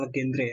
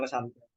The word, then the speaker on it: Legendre: Legendre ya, bacanya bukan Legendre ya. Polinomial Legendre. Tulisannya emang Legendre, tapi bacanya Legendre.